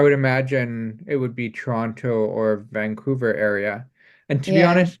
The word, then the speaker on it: Toronto: tell the difference between Toronto and Vancouver other than how torontonians pronounce Toronto it's toron oh okay gonna come to